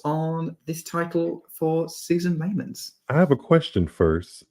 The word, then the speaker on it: Leemans: That's how she pronounced it in her intro, right? Leemans? That's right, yes. Leemans. So maybe we're gonna have to get used to pronouncing that.